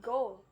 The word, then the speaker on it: goal: Now note the difference with goal, which rhymes with foal and dole and roll.